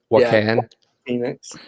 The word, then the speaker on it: Joaquin Phoenix: But the guy that I put down was the actor that played the most recent Joker, Joaquin Phoenix, I believe is how you say it. Joaquin Phoenix.